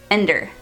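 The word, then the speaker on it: Endir: mercenary named Ender and it's spelled e n d i r so in my head I think I was saying endar but endar just sounds weird so I'll call him Ender endar e-man I'm going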